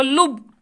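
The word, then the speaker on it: لُب: کے اوپر تشدید بچوں، جب ہم لب لکھیں گے لام کے اوپر پیوش ہوگا، اور جب لام کے اوپر پیوش لگایا جائے، پیوش کی علامت ہو، تو بچوں اس لفظ کا تلفظ ہوگا لب، نہ کہ لب۔ تو لب کے معنی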